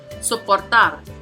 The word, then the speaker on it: soportar: Next tenemos soportar. Soportar it has three syllables. So the prosodic accent is going to be on the third, again, which is going to be the last.